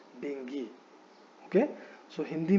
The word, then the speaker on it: dengue: ठीक है, लेकिन when the word is pronounced in English, it is not called dengue, it is called dengue.